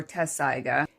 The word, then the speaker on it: Tetsusaiga: you can see, but it's spelled Tetsusaiga, which I would probably, if I had not already had the experience of the English dub, I probably would not have pronounced Tetsaiga or Tessaiga.